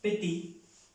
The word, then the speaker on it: petit: Bueno, petit, que es pequeño, no se pronuncia esa T, porque aquí está en esta regla.